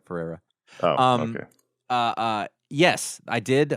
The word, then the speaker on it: Ferreira: That's not how you say his name, by the way. Because of Juan Ferreira. There's an R missing there. Ferreira.